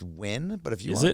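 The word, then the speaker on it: Nguyen: But NG is win.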